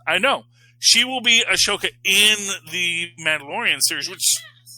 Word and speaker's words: Ahsoka: which Ahsoka, is it Ahsoka? I always thought there's an H in there. Well, there is an H, but I think they... Oh, you don't pronounce it. It's a silent H.